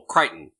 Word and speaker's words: Crichton: I said his name wrong earlier. Michael Crichton.